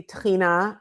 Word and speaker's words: tahini: Um, so you know, obviously Tina I would say is, you know, my friend Mike Salomonov calls it the mother sauce of Israeli cuisine and, you know, it rhymes with Adena, so it's it it